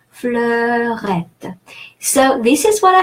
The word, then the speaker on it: fleurette: EU is pronounced E in French across the language. And E followed by two consonants, the double T there, E followed by two consonants is pronounced E, as if it had an accent. So E, like in the English word egg. And the final E is silent because it doesn't have an accent.